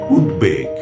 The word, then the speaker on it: উদ্বেগ: অর্থাৎ দ এর সঙ্গে যে ব যুক্ত থাকে সে ব এর উচ্চারণ হয়ে থাকে। আমি কিছু শব্দ বলছি আপনারা লক্ষ্য করুন। যেমন ধরুন উদ্বেগ উদ্বোধন উদ্বেলিত উদ্বাস্তু উদ্বিগ্ন উদবিড়াল উদ্বাহু উদবৃত্ত উদ্বিগ্ন